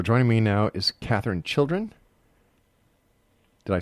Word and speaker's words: Chiljan: So joining me now is Katherine Chiljan. Did I say it right, Katherine? Chiljan. Chiljan. Chiljan. Yeah. All right. Chiljan. Chiljan, right. Chile in January.